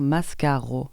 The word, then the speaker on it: mascara: Qui se prononce d'ailleurs mascaro, parce que le A final, c'est un O en occitan.